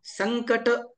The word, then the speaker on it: संकट: न सारखं होय होतं मग संकट नाही ना न सारखं नाही हो थोडसं ऐकायला येतं संकट गंग च उच्चारण होतं संकट संकट म्हणत नाही